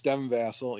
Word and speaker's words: Devin Vassell: Yes, Devin Vassell.